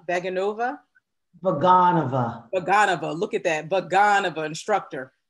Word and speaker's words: Vaganova: Is it pronounced Vaganova? Vaganova.